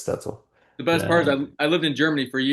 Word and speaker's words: Stoetzel: The way it's spelled it looks stzle, right? But it's Stetzel.